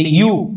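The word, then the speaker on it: ewe: यू, इसका pronounce यू होता है, ध्यान रखिएगा।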